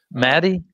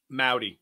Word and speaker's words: Mowdy: It's pronounced Mowdy, although it's a valiant effort that you keep trying. Yeah. That's awesome. Maddie? Mowdy. Just howdy. Mowdy, gotcha. Mowdy with an M.